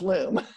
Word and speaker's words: Loom: Yeah, it rhymes with Zoom, but it's Loom.